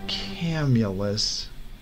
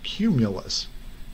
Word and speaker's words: cumulus: he saw the inscription it's not it's not camulus he said it's pronounced cumulus and it means clouds or storm clouds phidias